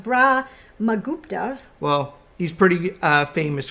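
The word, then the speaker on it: Brahmagupta: in India mathematicians like Brahma kubata who is often credited I think it's pronounced bra mupa well he's pretty uh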